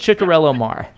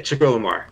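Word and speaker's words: Ciccariello-Maher: Yeah, I've heard it's Ciccarielo-Maher. Okay, Ciccarielo-Maher.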